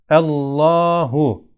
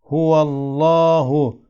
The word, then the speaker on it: Allah: kalın okunur ona bakalım Allah lafzının lâmı kendinden önceki harf Üstün veya ötre olduğu zaman kalın okunur Allahu Allahu nasıl örneklere baktığımız zaman lam